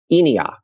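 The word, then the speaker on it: ENIAC: or something like that but it is pronounced in iakh boom exactly boom you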